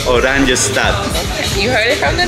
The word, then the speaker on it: Oranjestad: The capital city is called Oranjestad.